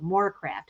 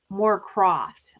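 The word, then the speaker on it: Morecroft: More craft. How do you say it? More craft. It looks like it's actually O for some reason. That was their last name. More Croft.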